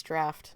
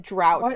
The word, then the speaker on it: draught: It's draft. And I don't know why they wouldn't fix that for him and tell him that he needs to pronounce it correctly. Makes me a little mad. Yeah, because he said it like three or four times. Said drought. And I'm like, "Sir, it's draft." Like, I don't care about the pronunciation.